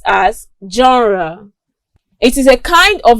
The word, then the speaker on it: genre: In English language, it is pronounced as genre.